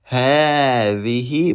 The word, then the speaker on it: هذه: And we said before we pronounce alif after ha. هذه, but we don't write this alif.